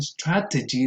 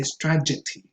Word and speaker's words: strategy: And this is a very interesting case because what happens sometimes is that people invert the phonemes here. So instead of saying strategy, they say strategy.